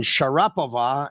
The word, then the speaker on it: Sharapova: and Sharapova instead of Sharapova.